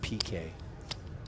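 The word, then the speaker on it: Piqué: It is a little bit ironic that a soccer star's last name is actually pronounced PK, which is an abbreviation for penalty kick.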